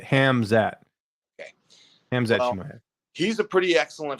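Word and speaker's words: Khamzat: you pronounce that guy i always say calms it hamzad i think is how you say it hamzat okay he's a pretty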